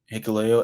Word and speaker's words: Hikuleo: Hikuleo.